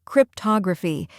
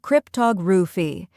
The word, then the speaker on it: cryptography: The correct pronunciation is cryptography. First, crypt sounds like crip in cryptic. Next, tog, where the O is pronounced like in log.